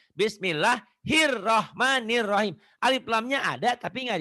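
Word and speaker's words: بسم الله الرحمن الرحيم: enggak minjam kuping orang ada orang yang baca gini bismillah hilahmanirahim l-nya dibaca padahal itu Alif lamnya enggak dibaca harusnya bismillahirrahmanirahim Alif lamnya ada tapi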